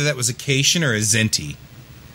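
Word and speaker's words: Kzinti: was occasion or a zinty right and so because the zinty also looked cat-like um so it's spelled with a k so it's k-z-i-n-t-i um this is the k is silent um but uh she's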